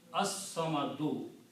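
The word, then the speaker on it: الصمد: it becomes al samadu, but swad is a shamsi letter, so its sound will change into, lam sound will change into swad, so it will be pronounced as as-samadu. So this is the grammar.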